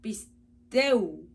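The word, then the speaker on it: πιστεύω: Esta palabra se pronuncia pisteu, que es tener fe en o con respecto a persona o cosa, es decir, crédito, por implicación, confiar.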